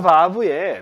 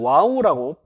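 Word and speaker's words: וָו: 그것을 문법적으로 뭐라고 하냐면 바브 혹은 또 이게 또 와우라고, 또 이 독일식으로 바브라고 읽지 않고 또 와우라고 읽고 영어식으로 와우라고 해서 와우 컨버시브, 컨버트, 바꾼다라고 하는 이 표현을 사용합니다.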